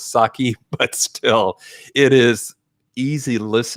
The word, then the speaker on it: sake: i listened to dracula the voice did pronounce s-a-k-e sake and i think what the author meant was saki but still it is